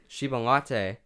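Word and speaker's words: Chiba Lotte: 120 games played before I'm gonna try and pronounce this correct me if I'm wrong yeah she been locked Lotte Shiban Lotte there we go and this is just as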